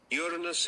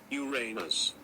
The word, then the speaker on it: Uranus: Uranus is the only planet to be named after a Greek god. It is a problem with the pronunciation. And let me say that. Uranus. Uranus.